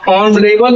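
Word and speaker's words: honourable: तो, यह कंसोनेंट से शुरू होने के बाद ही इसका जो प्रोनाउंसिएशन होता है, वह ऑनरेबल ओ से शुरू होता है। हम ऑनरेबल कहते हैं अस हिंदी में आ शब्द आता है।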